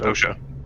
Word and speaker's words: OSHA: It's pronounced OSHA.